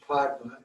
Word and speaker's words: Pema: Om Pema, it's also pronounced Padma in Sanskrit.